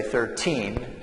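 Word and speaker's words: thirteen: here we have 30 so the stress is different so on this number we would say 13 and then the stress here is on the first syllable we say 30 okay so if you're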